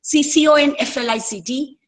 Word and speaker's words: conflict: For example, C-O-N-F-L-I-C-T can be a noun, can be a verb. You can, if it is a noun, you say conflict.